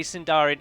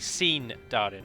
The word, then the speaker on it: Sindarin: about that because yes we all call it sarian and yes technically Saran is incorrect because the pronunciation of the I is always like double e so it would be seen Darin like I've seen Darin you so seen Darin would be better but then there's also